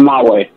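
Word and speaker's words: Mawae: Kevin Mulway.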